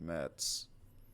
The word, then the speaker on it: Mets: Oh, I forgot he is now with the New York Mets. Wow. Isn't that crazy? The M-E-T-S. Mets, because it rhymes with Jets.